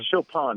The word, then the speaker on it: Chopin: Chopin? Oh, yeah, Chopin. That's Chopin.